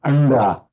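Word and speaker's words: अंडा: I've got if it comes before a d, then yes, then you will pronounce it like anda, meaning an egg, for example, anda.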